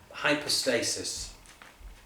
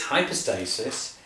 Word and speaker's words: hypostasis: that word substance um hypostasis or sometimes you can pronounce Greek when it's a y it can be a u as well or hoop post stasis uh depends on how you like to pronounce it but whatever the case uh it's hypostasis and that may or